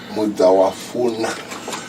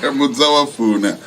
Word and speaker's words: Muzawafuna: Mudawafuna. Is that how you pronounce it? You could be better. Muzawafuna. That's how we say it.